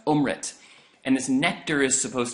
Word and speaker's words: Amrit: drinks this elixir that's called ohm rent am RIT pronounced ohm rent and this nectar is